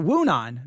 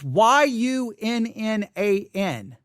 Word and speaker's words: Yunnan: The Yunnan or Wunan, maybe it's Wunan. It's Yunnan.